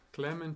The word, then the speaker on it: Klemen: Subito una domanda, la pronuncia corretta del nome, perché ci sono diverse correnti di pensiero. Clement Sebul.